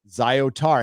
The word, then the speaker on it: Zyatar: d d podcast called the zyatar chronicles pronounced zyotar hey i did it